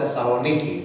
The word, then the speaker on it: Thessaloniki: 1st and 2nd Thessalonians, but we call it Thessaloniki. That's the proper way of pronouncing it.